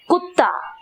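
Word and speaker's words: गधा: கதா கதா, ஜி சவுண்ட்ல நிறைய சொல்றது கதா.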